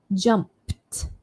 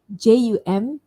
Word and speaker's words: jumped: When the root word ends in a voiceless sound, we pronounce the ending with t. So now we're looking at words that end in a voiceless sound. The word jumped, jumped, there.